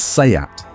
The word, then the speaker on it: SEAT: It's SEAT, the SEAT Alhambra.